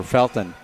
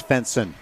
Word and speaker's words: Felton: The buddy jumped in when I was checking the pronunciation for Felton, and he said, no, that's Fenson, just to make me call the last name out wrong on purpose.